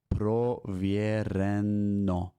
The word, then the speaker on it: проверено: And I'm going to put a little A in here because it is pronounced as an A. That O is pronounced like an A. It is a grammar rule. Don't ask me why, how, or who thought of that. That's just how it is.